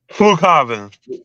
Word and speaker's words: Flughafen: Oh, Flughafen. Because it has let's see if I can go on. Yeah, Munich right there. It says that Flughafen Munich.